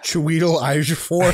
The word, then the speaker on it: Chiwetel Ejiofor: Chiwetel Ejiofor, how do you say his name? Chiwetel Ejiofor, yes.